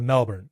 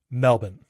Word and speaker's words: Melbourne: Australians say Melbourne. I say Melbourne. Am I mispronouncing the name of the city? I don't think so. And that's because Australians don't really pronounce their Rs, right? It's a the Australian accent is a non-rodic accent. Often Rs toward the ends of words are not pronounced.